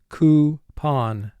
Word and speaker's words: coupon: Coupon. Mark the word. Coupon. Here OU is representing the sound oo, so we draw a dotted underline under the OU team.